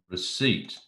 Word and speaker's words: receipt: pt correct as well the p of course is silent so let's try it